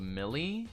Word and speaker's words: Mili: Uh there's a band called Millie. I believe it's spelled M I L I.